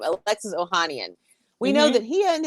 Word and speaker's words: Ohanian: the honey i'm totally butchering his name alexis ohanian we know that he and he has his